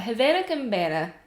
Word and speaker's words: Havana Cabana: I can't even pronounce the name wrong, but Havana Cabana. I keep adding another N in that word.